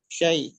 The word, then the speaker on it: شيء: সাই নয় সাই, পুরো ইয়া উচ্চারণ করেন, শিন ইয়া যাবার সাই। شيء.